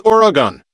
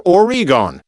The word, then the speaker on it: Oregon: According to the Oregon Tourism Commission, present day Oregonians, Reunix 20 pronounce the state's name as Oregon, never Orgon.